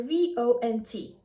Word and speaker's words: vont: The spelling is O-N-T, S-O-N-T, or V-O-N-T. But the T is always silent, and also the sound is kind of nasal.